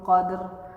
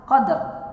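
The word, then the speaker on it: قدر: Nah, seringkali kita mendengar terkadang hak huruf ro seringkali hilang. Inna anzalnahu fi lailatul qadr. Padahal dalam penulisan qaf, dal, ro di akhir. Qadr harusnya qadr, jangan sampai qad. Berarti hak huruf ro-nya hilang jika seperti itu.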